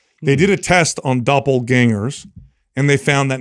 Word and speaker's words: doppelganger: So doppelgangers, right? That's the term for it. When somebody, doppelganger, did I say it right? Ganger. Yeah. Ganger or danger? Ganger. Doppelganger. Put the gang in there.